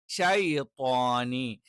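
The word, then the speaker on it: الشيطان: ഷൈത്വാനി, ഷൈത്വാനി എന്ന് തന്നെ പറയണം. ഷേ എന്ന് പറയുന്നത് തെറ്റാണ്. ഷൈ എന്ന് തന്നെ കറക്റ്റ് പറയണം.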